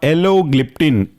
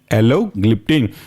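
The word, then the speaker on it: alogliptin: इसके बाद अगला एग्जांपल है आपका एलोग्लिप्टिन, एलो ALO, रेस्ट है ग्लिप्टिन GLIPTIN, एलोग्लिप्टिन।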